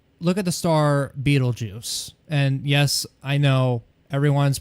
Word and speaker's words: Betelgeuse: So when you think about it, like, look at the star Betelgeuse.